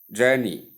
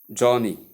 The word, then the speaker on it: journey: Journey, journey, journey, not Johnny, as many people do call it.